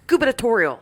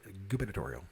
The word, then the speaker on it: gubernatorial: Gubernatorial. I love that word. It's fun to say. It's got a secret B in it. Gubernatorial. When you say it right. Gubernatorial.